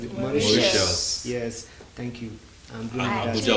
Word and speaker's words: Mauritius: Mauritius, how do you pronounce it? Mauritius.